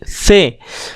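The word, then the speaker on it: ث: से, जो दोनों दांत हैं उनके बीच में ज़बान आ जाएगी और बहुत हल्की आवाज़, बहुत सॉफ्ट आवाज़ में आप इसका प्रोनाउंसिएशन करेंगे से।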